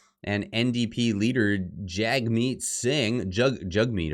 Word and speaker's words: Jagmeet: Trudeau and NDP leader Jagmeet Singh, Jagmeet apparently is how it's pronounced. I don't want to mispronounce that.